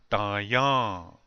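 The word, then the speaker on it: Taŋyáŋ: In this word, the accent is on the second syllable.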